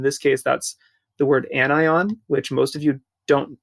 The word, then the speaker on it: anion: A sodium hydride anion, that's how you pronounce this, anion, has one extra electron.